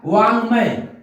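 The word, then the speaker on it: वाङ्मय: तो ये वाक धनमय बराबर हो गया वांग्मय, यानी इसको हम न का भी उच्चारण पढ़ते हैं तो वांग्मय कह सकते हैं।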